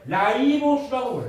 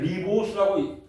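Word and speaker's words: ribose: 여러분들 선배는 리보스라고 외웠어요. 리보스 너네 보스 리보스 이렇게 해서 외웠어요. 요거를 이제 이게 영어로 쓰면 ru 라이보스 이렇게 쓰거든요. 그러니까 요거를이 영어식 발언해서 라이보스라고 발언을 하니까 이렇게 바뀐 겁니다.음 음.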